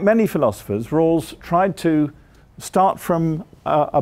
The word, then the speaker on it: Rawls: American philosopher called John Rawls i'll spell that for you because it sounds like rules but it's our a wls you all know him